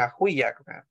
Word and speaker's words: ajuyak: Es algo natural que sale entre las vocales, ¿verdad? Siempre se rompen las vocales, ya sea separándolo por sílabas, ajuyak. O rompiéndolas con otra letra, ajuyak, en este caso con ye. Ajuyak.